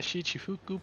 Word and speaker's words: Shichifuku: I'll work in the Shichifuku parking lot.